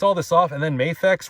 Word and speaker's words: Mafex: so we're going to or mafex depending on how you like to pronounce it but I say mayx but yeah I mean